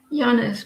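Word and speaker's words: Janis: Yanis, but it's not like. Yeah, but you don't pronounce it as it like with a J.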